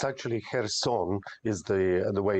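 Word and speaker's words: Kherson: is looking at this Russian Retreat from uh Kirsten very very cautiously why is that uh it's actually her song is the the way it's pronounced look um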